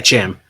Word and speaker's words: Cham: is it how do you say his name Cham Cham yeah Cham CH Cham syndulla who I assume is like